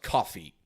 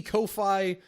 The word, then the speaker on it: Ko-fi: I'm pretty sure it's pronounced Coffee. It's spelled Ko-fi. Could be Ko-fi, but I'm pretty sure it's pronounced Coffee because there's like a little coffee mug in the logo.